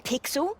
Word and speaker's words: Pixel: not weird guy I'm pixel it's easy to remember because it rhymes with pickle so does I'm Foster